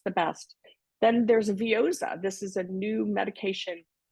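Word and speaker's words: Veozah: the name of it it rhymes with yoza because I was making funny fun of it so if you're looking for it's called vioa vioa was like sounds like yaowa to me sounds like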